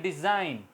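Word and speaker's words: design: इस तरह डिज़ाइन G silent.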